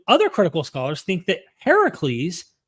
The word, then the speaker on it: Heracles: critical Scholars think that Heracles Heracles which is the Greek pronunciation which means the older version of Hercules um influenced the biblical